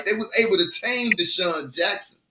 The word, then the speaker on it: DeSean Jackson: corrected me right they was able to tame DeSean Jackson right they was able to muffle uh uh